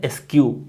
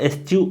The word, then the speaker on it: eschew: एक और वर्ड होता है एस्क्यू, उसको एस्क्यू और एस्च्यू दोनों पढ़ते हैं। देख लो उसका स्पेलिंग क्या होता है, ESCHEW, है ना।